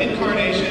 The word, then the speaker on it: Encarnacion: It's like it, not Lyons did it, so I don't think I need to spell that, but Encarnacion is E-N-C-A-R-N-A-C-I-O-N.